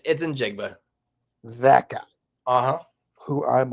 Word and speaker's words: Njigba: Yeah, it's Njigba.